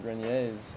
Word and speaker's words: Grenier: are a couple adrian grenier's out there in the world so maybe there's another really yeah a different spelling or something but you pronounce yours grenier the french pronunciation and melissa sabrina is